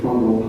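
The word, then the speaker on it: Vondel: Like there's a park in the middle of Amsterdam called, coincidentally, Fondel Park, but it's spelled V-O-N-D-E-L, which has a separate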